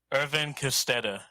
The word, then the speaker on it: Edwin Kostedde: Edwin Kostedde.